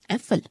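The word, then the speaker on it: Äpfel: For example ए के ऊपर उमलाउट है तो उसका प्रोनाउंसिएशन ए रहने वाला है, ठीक है, वो आ नहीं होगा। सिर्फ ए है सिंगल तो उसका प्रोनाउंसिएशन होता है आ, लेकिन उसके ऊपर उमलाउट है यानी कि 2 डॉट, तो वो रहेगा ए। फॉर एग्जाम्पल एफल, इसको बोलेंगे एफल।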